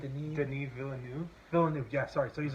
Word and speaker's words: Denis Villeneuve: It's not Dennis. What? How do you say it? Denis Villeneuve.